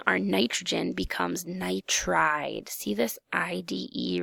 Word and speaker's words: nitride: sounds weird okay we'd go with nitride not nitro guide so our total for